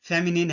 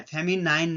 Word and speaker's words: feminine: फेमिनिन इसका correct pronunciation फेमिनिन है। फेमिनाइन नहीं है।